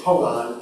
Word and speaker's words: kongan: So in Japanese it's koan, K-O-A-N, but in Korean it's kongan, K-O-N-G-A-N. Same thing.